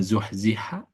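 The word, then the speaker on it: زُحْزِحَ: an Ar Gampang itu tapi dengan zuhziha Wah ini jadi sifat huruf ha itu harus sempurna keluar suaranya udaranya zuhziha ini mukjizat Quran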